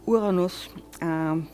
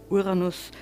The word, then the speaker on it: Uranus: Why am I pronouncing it Uranus, which sounds more German? If you try the English version, you always get quite a lot of laughter, and so astronomers try to pronounce it Uranus and not the other way around.